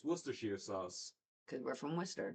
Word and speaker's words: Worcestershire: If you say Worcestershire or something weird, you're not saying it correctly. It's Worcestershire.